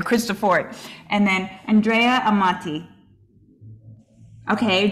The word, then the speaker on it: Cristofori: Cristofori. And then Andrea Amati. Okay, Jayden says Cristofori. Sophia says Cristofori. Yes. Bart, thank you. Let's call him Bart for short. Number two, yes, Cristofori was the Italian man who invented what's called